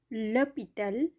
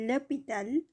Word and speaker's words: l'hôpital: l'arbre, l'animal l'hôpital এখানে হসপিটাল silent H দ্বারা শুরু হয়েছে যার কারণে এখানে ল ব্যবহার হয়েছে, l'hôpital, l'école এখানে ইকল এটা